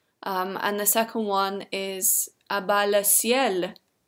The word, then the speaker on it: A Bas Le Ciel: the second one is a baile CL that's how you pronounce his youtube name but his actual name